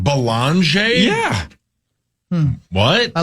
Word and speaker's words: Beringer: our guy's name is pronounced with an L, like Belanger. Wow, really? There's no L in there. This is getting confusing. How the hell do you say this kid's name? Belanger?